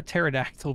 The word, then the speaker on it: pterodactyl: you hear a pair a pterodactyl p as the p is silent I actually said it